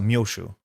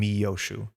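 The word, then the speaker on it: Miyoshi: So Myoshu more than Miyoshu. People are getting Moshi right. Just a long O is the only thing.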